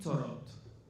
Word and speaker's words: Thoreau: De la misma manera, hay un autor que a mí me pareció importante mencionar, que es Henry David Thoreau. ¿Está bien la pronunciación?